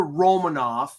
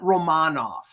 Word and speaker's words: Romanov: the same thing with it's alexander romanov not romanov i i i draw it drives me it drives me friggin daddy it's so ridiculous anyway wasn't it like the romanovs like that's how you pronounce it yeah yeah um